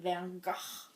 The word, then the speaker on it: Van Gogh: it's it's blue raspberry how am i supposed to say well to truly say it correctly first you must become dutch um i don't have time for that today so how else can i say it my stargate van gah shirt and the the